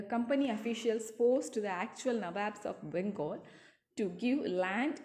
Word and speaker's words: Nawab: But the British people cannot pronounce same as we pronounce, right? So they just tried to pronounce Nawab and they pronounce like Nabob. Okay, so these both are having same meaning, this Nawabs and Nawabs, same meaning, but Nabob is the anglicized version of Nawab.